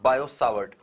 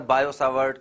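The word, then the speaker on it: Biot–Savart: नाम है बायो सावट इनका नाम अलग-अलग तरीके से जो है प्रोनाउंस किया जाता है तो कई बार बायो सावट कई बार बियो सावट कई बार बियो सेवर्ट या कई बार बायो सेवर्ट बोला जाता है बट कोई मतलब नहीं है उससे आपको इतना जानना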